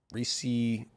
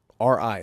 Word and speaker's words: Ri: I think Ri is his last name. Reese is his last name. No. R-I. That's it. No more. His family name is Ri.